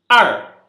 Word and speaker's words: 二: 2, ar, ER no quarto tom, desculpa. Ar. Algumas vezes, em alguns dialetos, algumas coisas, dependendo do sotaque chinês, vocês vão ouvir tipo A. É bem parecido, mas, enfim, é a forma dialetal. Ar.